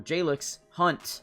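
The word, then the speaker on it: Jalyx Hunt: their third round picks, Jalen, or Jalix Hunt, I believe that's how you say his name, he looks insane.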